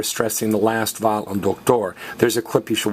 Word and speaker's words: doctor: Now, male doctor is el doctor. And notice we're stressing the last vowel because it's a lizard word.